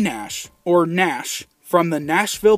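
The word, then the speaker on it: Gnash: but anyway back to G Nash his name isn't actually G Nash it's actually Nash the g is silent so he has a g in front of his name but it's actually silent instead of G Nash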